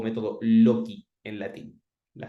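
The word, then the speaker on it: loci: los lugares o Método loki en latín la c es se pronuncia como la k e y en esos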